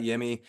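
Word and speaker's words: Yimi: the fact that we got yimy you know or Jimmy I sorry it's pronounced Jimmy uh I I've been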